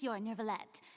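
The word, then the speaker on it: Neuvillette: She doesn't say say ner that R does not exist whatsoever in French.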